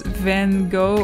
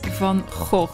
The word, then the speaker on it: Van Gogh: I hear this pronounced a lot of times as Van Gogh or something, but it's Van Gogh, you know, the Dutch, they use the G.